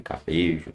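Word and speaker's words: Puerto Cabello: Cuerto Cabelo, o nome do time, Cabeijo, né? se pronuncia cabe é um time muito fraco.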